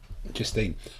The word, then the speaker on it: Justine: Oregano, I Justine. think he's called. That's his sub-commander, is Oregano. Is it Justin or Justine? Justine.